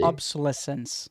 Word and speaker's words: obsolescence: Obsolescence.